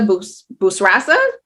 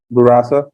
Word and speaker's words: Bourassa: Angela Bourassa. Bourassa.